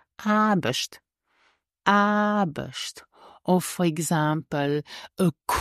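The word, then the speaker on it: Aarbecht: e c HT but we don't pronounce the r before the B so you will hear not AR but it's arush arush or for example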